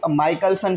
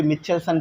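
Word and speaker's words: Michelson: जैसे वो माइकलसन पढ़ रहा होता है, कोई मिचेल्सन पढ़ रहा होता है।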